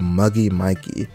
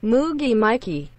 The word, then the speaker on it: Moogie Mikey: number six we have muggy mikey or is it muggy my oh my god i'm finna butcher's name oh lord moogie mikey is that's how you say it moogie moo moogie mikey moogie mikey okay i'll say it right then hey okay i think